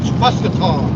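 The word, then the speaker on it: Mascoutah: We're going up here to Muscataw, M-A-S-C-O-U-T-A-H, Muscataw. Well, that's the way I would pronounce it, being from Baltimore.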